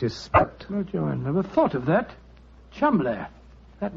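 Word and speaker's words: Cholmondeley: had no reason to know that the name Chumlee is in no way pronounced the way it is never thought of that Chumlee that name spelled c-h-o-l-cell m-o-n-man D e d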